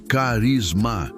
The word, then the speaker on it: charisma: Ele usa a palavra grega charisma, se pronuncia carisma, que significa literalmente um